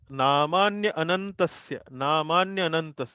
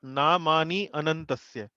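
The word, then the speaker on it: नामान्यनन्तस्य: Now this time here Namanya Anantasya, not Namani Anantasya.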